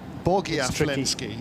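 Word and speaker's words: Bogoyavlensky: It's Dmitry Bogoviansky. Boglav Lensky. Are you saying those are L's rather than I's? Bogiavlensky, yeah.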